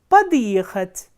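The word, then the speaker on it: подъехать: Similarly, pad plus yekhat is padiyekhat, and again we are adding a hard sign here between the prefix and the verb in order to retain its pronunciation.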